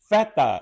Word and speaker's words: feta: Feta is how you say it, feta.